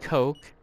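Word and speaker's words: Koch: the German weapon manufacturer Heckler and Coke which I believe is the correct way to pronunciate it I'll probably be corrected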